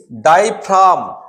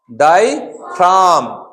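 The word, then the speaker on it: diaphragm: यहां पे देखिए डाईफ्राम, डाईफ्राम, जी का साउंड नहीं है, डाईफ्राम, डाईफ्राम, राइट।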